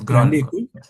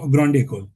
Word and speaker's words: Grande École: Because uh I came across a particular term which is Grande École, I think if I'm I mean uh pronoun- pronouncing it correctly. It's Grande École. Or Grande École.